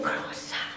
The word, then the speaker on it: croissant: Ahora le digo, el croissant. Y mi esposo, no, me dice, no lo estás diciendo bien, se dice croissant.